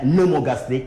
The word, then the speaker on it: pneumogastrique: C'est nerf pneumogastrique. Le P ne se prononce pas.